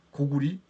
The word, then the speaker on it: 고구리: 세 오래 가라는 뜻이잖아요 그러니까 국호를 구리로 읽어 줘야 되는 이유가 바로 거기에 있습니다 구리 고구리 고리 고리아이 에 국호를